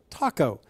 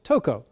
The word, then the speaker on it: Tocco: Also, many people call him Dominic Tocco. He says it is actually pronounced Tocco, but he does answer to both.